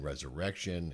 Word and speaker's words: Resurrection: know if you've seen resurrection and uh Tom is quite spect the emphasis is on the third syllable Resurrection yeah and 11 I